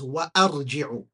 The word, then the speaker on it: وأرجع: You cannot have it silent. You have to pronounce it as وأرجع. وأرجع. That's how you read.